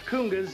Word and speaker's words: congas: here explain to me these are congas these are pronounced kungas and uh your smallest